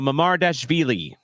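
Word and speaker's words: Mamardashvili: Georgie mamar DV um so basically how I said it but V instead of villy so mamar DV is how you say that name and you'll hear it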